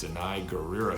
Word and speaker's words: Danai Gurira: as well as I think her name is pronounced Danai gurira who's Walking Dead you might know her from